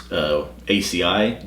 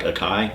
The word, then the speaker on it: acai: I also have in my notes with the rose hips and the hibiscus is ACI berries. It looks like acai, A-C-A-I. I think it's actually pronounced ACI.